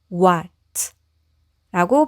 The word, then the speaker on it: what: 그리고 W우소리 다음에 모음이 왔을 때는 우아 분리해서 발음하지 않고 같이 묶어서 발음한다고 했죠? 그러면 이것은 뭐 이런 식으로 적을 수 있겠는데요. 우리는 이런 글자가 없으니까 우와 우와 우와 이렇게 발음해 보면 와처럼 들리기도 하죠. 그래서 이렇게 적으셔도 되고요. 아니면 이렇게 한글로 적으셔도 되겠습니다. 그래서 여기까지 와 그리고 t는 트 하니까이 단어는 what? what라고 발음하시면 되겠습니다.